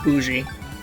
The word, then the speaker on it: bougie: bourgeoisie that's the word yes yes it is pronounced boujee and i think this is like the first